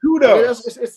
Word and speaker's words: Kudus: First learn to pronounce his name, Brian. Kudos.